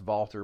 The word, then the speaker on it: Valter: meals have increased longevity not getting into that Valter Longo it's pronounced vaulter but I think it's spelled Walter I believe